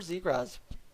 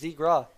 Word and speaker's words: Zegras: to somewhere let's see trevor z grass that's how you say it i thought it was zegra z graz okay sure enough trevor